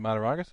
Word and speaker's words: Mataragas: It's phonetic. It's great. Well, is it Mataragas or is it phonetic? Phonetic. It means that it's spelled the way it sounds.